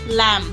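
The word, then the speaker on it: lamb: कॉम लैंप B silent लैंप thumb thumb dump dump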